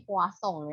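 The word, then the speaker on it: Poisson: itu dengan menggunakan namanya distribusi poasong ya kalau ini tulisannya Poison tapi kalau bacanya orang Perancis ya namanya orang ya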